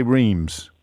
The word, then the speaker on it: Reims: Gennaro is in, well, I'm going to say Reims, Gennaro, even though it's spelt with an F on my screen. It is Reims, yeah.